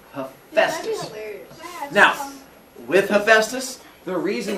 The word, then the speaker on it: Hephaestus: So when you look at it, his name is not Hephaestus, it is Hephaestus. Oftentimes you'll see his name spelled with an F in there. H-E-F-A-E. Sometimes they'll make it even easier and just spell it H-E-F-U-S-T-U-S. Hephaestus. And so as long as it comes along the same lines, it's the same thing. His name definitely is not hepatitis.